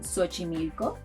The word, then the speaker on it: Xochimilco: It may sound like an S, as in Xochimilco, a very nice sound south of Mexico City.